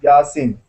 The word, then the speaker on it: Yasin: In Turkish pronunciation is Yasin.